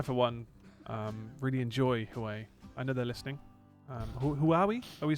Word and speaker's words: Huawei: Hawaii. Hawaii. No, I'm gonna keep it with hello. They're actually a northern company. It's pronounced Huawei.